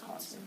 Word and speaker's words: Hodgson: So, for me, the G is silent. So It's like the Hudson River, just with an O. So it's Hodgson.